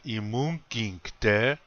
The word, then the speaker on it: imunkinkte: Also, please notice that in the word imunkinkte, again the accent is on the second syllable.